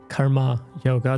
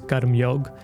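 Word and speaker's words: कर्मयोग: In western world we say it karma yoga. The right way to say it is kum yog.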